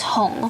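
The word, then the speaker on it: 红: The word red in Chinese is hong, which also sounds like the word hong for flooding.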